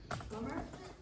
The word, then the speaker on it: plumber: Plumber? Yes, plumber. What's missing? The B, exactly. Okay.